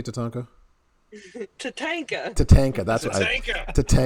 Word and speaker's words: Tatanka: T, how do you say Tatanka?